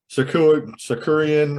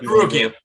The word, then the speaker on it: Sarukian: Sakurian or whatever the fuck. Sarukian. Just call it Sarukian. We call it, the T is silent.